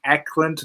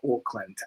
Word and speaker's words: Ackland: Ackland, not Oakland. A C A L A N D.